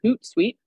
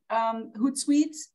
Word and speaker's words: Hootsuite: Gretchen, can you spell Hootsuite Yes. What are some of the platforms that connects? I'll put it in the chat, but you spell it as Hoot, like an owl, and then suite, Suite.